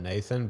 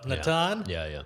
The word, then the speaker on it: Natan: yourself as Nathan no the first year in comedy I said Nathan because people kept pronouncing it that way I didn't have the I thought if I just keep correcting people I it's like going to be forever but then I thought why am I letting you say my name eventually so Natan battle love